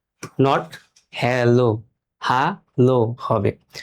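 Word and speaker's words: Hallo: প্রথমে আমরা দেখি এখানে আমরা ইংরেজিতে যখন হ্যালো হ্যালো বলি কিন্তু জার্মান ভাষায় এরকম প্রোনাউন্সিয়েশন হবে না। জার্মান ভাষায় হবে হালো। হা লো দেখছেন হা লো।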